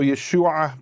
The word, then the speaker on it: Yeshu: They didn't pronounce the ayin, so Yeshua became Yeshu.